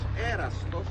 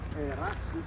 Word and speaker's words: Erastus: actually archaeological proof about in the Greek language erastos, which is actually pronounced erastus in the English language.